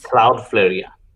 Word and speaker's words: Cloudflare: speed they have also cloud fair am i saying it right cloudflare cloudflare and uh cdn which is